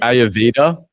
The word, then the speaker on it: Ayurveda: I don't know if I can pronounce it right. Maybe you can help me. Yes. Ayurveda.